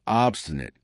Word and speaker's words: obstinate: Next, number 13, we have obstinate. Obstinate. And notice how I pronounce it with schwa at the end. Obstinate, not obstinate.